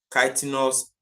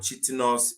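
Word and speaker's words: chitinous: body segmented body C kenos exoskeleton or chos exoskeleton depends on how you want to pronounce it and then option D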